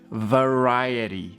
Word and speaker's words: variety: Se dice variety. Variety. Recuerda la R. Variety. Y la T es un poco más suave. Variety.